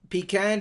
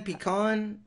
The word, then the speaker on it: pecan: one is it sure how do you say it pecan pecan tomato tomahto potato potato how he says but I mean I I alternator honest he can't tell you which one I say the most I'm one of those people that says pecan one day and pecan the other day yeah I don't even